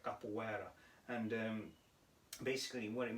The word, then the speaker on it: capoeira: tekken called is called so i use the proper brazilian uh pronunciation right capoeira and um basically what